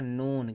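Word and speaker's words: known: इसको क्या पढ़ा जाएगा नोन के यहां पर साइलेंट होता है एन ओ डब्लू एन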